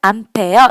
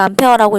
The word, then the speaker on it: 암페어: 단위가 뭐냐면 A라고 하고 읽을 때는 암페어 이렇게 읽습니다. 그래서 암페어라고 읽고요.